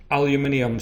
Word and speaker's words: aluminium: Aluminium, Century Aluminium, depending on your pronunciation, we're aluminium in Scotland. I know in the US it's aluminum.